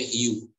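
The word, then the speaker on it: hue: istilah namanya hiu Eh kalau di Teling atau dieja itu hak buke tapi dibacanya hiu jadi you ini adalah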